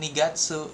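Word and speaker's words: 二月: Kemudian kalau bulan Februari ni jadinya bacanya ni bang nigatsu. Nigatsu bulan Februari atau nineng 2 tahun gitu.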